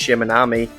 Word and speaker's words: Shimanami: So, with a quick navigational lesson from my new friend here, and a humbling lesson that is actually pronounced Shimanami, unlike how I said it in the intro, it was again time to hit the road.